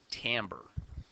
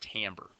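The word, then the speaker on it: timbre: account for something called tamber I know it's kind of spelled like Timber but it's pronounced tamber uh tamber is the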